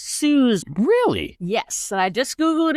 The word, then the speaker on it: Suze: you don't know who Susie Orman is, this character is great, and she nails it. So love it. I believe that her name is actually pronounced Suze.